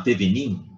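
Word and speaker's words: Thévenin: Então, o teorema de Thevenin, escreve assim, ó, Thevenin, a gente pronuncia Thevenin, ele se aplica nos casos em que desejamos substituir um circuito complexo por um mais simples, equivalente.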